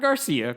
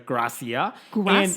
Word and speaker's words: Gracia: is bianca gracia um i think i'm saying it correctly not garcia gracia okay she said on